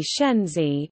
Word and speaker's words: Shaanxi: Shaanxi, Chinese, Shanxi Pinyin, Shanxi, Mandarin pronunciation, An, E, listen, alternately Shenzi, is a landlocked province of the People's Republic of China.